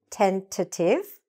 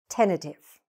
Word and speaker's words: tentative: Now, there are two ways to pronounce this word, by the way. You can say these T's, tentative or tentative.